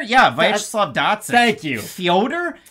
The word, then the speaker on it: Fyodor: Fyodor? That's how Ariel Hawani says it. You pronounce everyone's names the right way, so I'm trying to do the same.